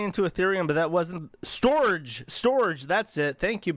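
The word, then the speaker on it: Storj: he put money into ethereum but that wasn't Storage storage that's it thank you bald man uh it spelled it's spelled like stor but with a j instead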